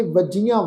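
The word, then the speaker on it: ਵਜੀਆ: सहज सेती, मन वजियां, ये शब्द का उच्चारण करांगे वजियां वावा, जज्जा जज्जे नूं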